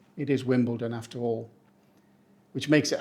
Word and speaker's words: Wimbledon: Pronounced correctly, it's Wimbledon. We don't say Wimbledon or Wimbledon. The trick is to soften the don into dun, and while you're at it, picture strawberries and cream.